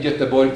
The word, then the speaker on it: Göteborg: A mí tampoco me importa usar Gotemburgo en lugar de Göteborg, que es la pronunciación sueca, pero para una minoría como quechua,